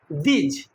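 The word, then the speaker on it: these: বোঝাতে আমরা কি বলি ট বলি তাইতো আচ্ছা দিজ দিজ মানে কি খুব ভালো করে বুঝবে শোনো এই উচ্চারণটা হচ্ছে দিজ মানে দয় হসই আর বর্কিজ অনেকে এটাকে দিস বলে যদি এটা দিস হয় তো এটাকে তাহলে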